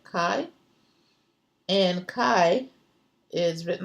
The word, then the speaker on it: chi: be X for us this pronounce or spell CH eye but Chi and Chi is written